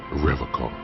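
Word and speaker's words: Revachol: He pronounces Revacco with a hard K, unlike other people.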